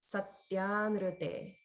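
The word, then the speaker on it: सत्यानृते: a vowel, not the RU combination. So there's no holding on the in because it's just the one sound plus a vowel. There's no holding. Satyanrute.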